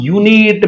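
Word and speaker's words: unit: पहला एरर आपको दिया गया ऑन यूनिट, में बार बार बोलता हूं इसका प्रोनाउंसिएशन य से हो रहा है, मतलब वाई से।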